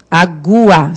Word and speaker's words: água: Em água, o U tem som? O U tem som. Você não fala água, você fala água. Agua. Pronuncia esse U, certo?